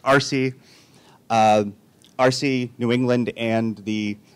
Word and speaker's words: ARCE: I'm the president of the New England chapter of the American Research Center in Egypt, or for short, ARCE, usually pronounced RC.